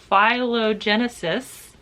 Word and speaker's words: Phylogenesis: So I have book 1, Phylogenesis. I pronounced that correctly.